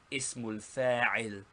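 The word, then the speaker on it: اسم الفاعل: First, the noun of agent or active participle, pronounced ismul fa'il. Ismul fa'il.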